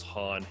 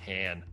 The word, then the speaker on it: Han: And I like the little part too where Donald Glover calls Han Han. Yeah. Like, purposely mispronounces his name, which ties into obviously why Billy D. Williams always said Han instead of Han.